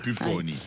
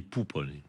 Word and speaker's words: Pupponi: bonsoirons fr même franis pupon j'y fait j'essaie de de travailler mon accent c'est pas toujours facile sal en fait on dit poup parce que en Corse le U se prononce ou c'est je je je